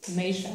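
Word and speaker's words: Meixa: In Spanish, it pronounces Misha.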